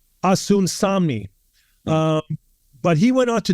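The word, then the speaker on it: Osunsanmi: And if I could pronounce his last name correct, it's Asun Samni.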